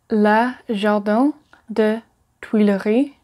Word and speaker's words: le jardin des Tuileries: Number 7, Le Jardin des Tuileries. Le Jardin des Tuileries. Le Jardin des Tuileries.